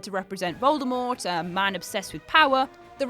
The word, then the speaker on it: Voldemort: that told us all the tea in Voldemort is silent too Dumbledore is death in